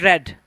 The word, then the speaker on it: read: If we if we write, you have to write read e a d. And when it comes to the pronunciation and when it comes to the speaking, you have to read it red.